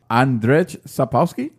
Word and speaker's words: Andrzej Sapkowski: But CD Projekt and The Witcher author Andrzej Sapkowski. Yeah. Is that? I probably pronounced it wrong.